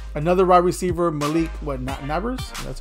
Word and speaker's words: Nabers: really that great another wide receiver Malik what nabers that's how you say his name oh this